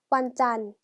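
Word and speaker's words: วันจันทร์: 금방 같이 해 볼게요 자 월요일이 에요 월요일을 완 짠 왔잖 이라고 발음하고 요 여기 나와 2 첫 1관 어려워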